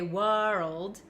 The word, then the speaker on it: world: say whoa world and we don't say world we kind of skip over the W and go straight to R so when I